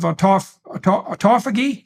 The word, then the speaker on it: autophagy: And then there's a separate set of benefits that go along with the keto diet / fasting, and that's the encouragement of autophagy.